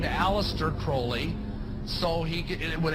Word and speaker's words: Crowley: about was aliser Crawley he likes to have his name pronounced Crowley to rhyme with holy and uh these satanists